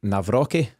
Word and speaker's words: Nawrocki: of 22 year old Mike navrocki is that the right pronunciation James yes from legia Warsaw and